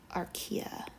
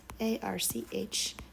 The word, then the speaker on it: archaea: And the orange is archaea. Or, did I spell that right? 1 second. No, I forgot an A. Okay, it's spelled A-R-C-H-A-E-A.